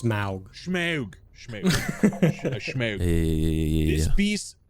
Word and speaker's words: Smaug: It's gonna go to this Smog. Pronounced Smaug.